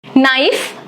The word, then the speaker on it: knife: Knife, silent K.